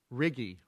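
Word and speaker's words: RIGE: And could we all agree on a pronunciation for R-I-G-E? Let's have a vote. No, we won't do it that way. What is the true pronunciation according to the office? Riggy. Could everybody say with me now, once and forever, 1, 2, 3, Riggy.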